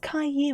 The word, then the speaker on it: Caillou: It's pronounced Caillou. It's a French name.